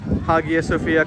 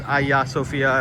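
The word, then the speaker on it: Hagia Sophia: So, we are making our way to Haga Sophia, correctly pronounced apparently as Aya Sophia, if that's the pronunciation.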